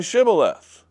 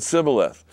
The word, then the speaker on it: Shibboleth: And one way is pronounced as an S sound, and the other way as an SH sound.